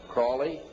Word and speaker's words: Crowley: learned about was Aleister Crowley he likes it Bennett has been pronounced Crowley to rhyme with holy and the Satanist today